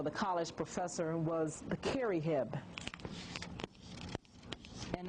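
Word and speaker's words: kherihe: the priest or the college professor was the kerry and it's spelled k h e r i h e and they had three types of college professors or three types of priests.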